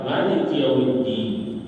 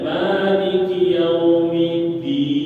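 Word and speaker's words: مالك يوم الدين: kemudianikiumidin fauq ya kedelapan Maliki yaumiddin itu di atas huruf Dal jangan bacanya Maliki yauminidin atau ada sebagian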